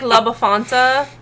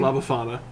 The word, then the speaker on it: La Befana: He could be like La Befanta. Or La Befanta. How can I say her name? La Befana.